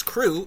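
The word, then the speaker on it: krewe: campaign during that time the word that we use crew is spelled k-r-e-w-e so that is what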